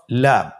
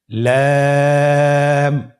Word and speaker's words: লাম: পরবর্তী হরফ লাম। লাম হরফটি উচ্চারণের ক্ষেত্রে অবশ্যই বারিক হবে এবং তিন আলিফ টেনে পড়তে হবে। আপনারা আমার সাথে বলুন। লাম।